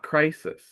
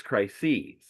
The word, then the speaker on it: crises: I should have said crisis. It is not crisis. It is crises. It is multiple crisises. That's why it's in the plural of crises.